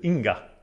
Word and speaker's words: Inga: Men namnet Inga, som också är norsk, blir uttalat med klart G-ljud. Inga. Eller? Lite som ändå sin ing på engelsk.